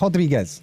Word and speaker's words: Rodriguez: Oh, I've been saying his name wrong as well. It's Rodriguez. Sorry.